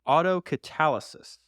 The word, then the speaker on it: autocatalysis: So, it's pronounced autocatalysis.